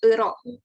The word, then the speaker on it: euro: Jadi kalau misalkan pelafalan di bahasa Indonesia mungkin sering dengarnya euro ya, tapi kalau dalam bahasa Prancis ini dibunyikan dengan euro ya.